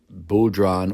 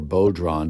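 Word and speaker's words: bodhrán: So I immediately thought of a Bodhran or Bodhran, depending on what part of the country you'd be in. It would be pronounced differently.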